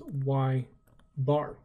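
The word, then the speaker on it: ȳ: So again, we actually pronounce it as y bar.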